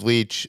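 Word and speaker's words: Leitch: uh the uh David Leech Lynch leech how do you pronounce it's Lee I think uh he came out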